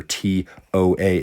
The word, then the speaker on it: toa: And again, a lot of students will say, well, couldn't you spell toa like T-A-O? Well, I pronounce that tau. T-A-O is tau, where T-O-A is toa.